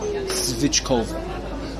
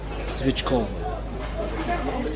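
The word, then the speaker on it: svíčková: I think I'm pronouncing that perfectly. Svichkova. Svichkova. That sounds great. The C with the little thing on top.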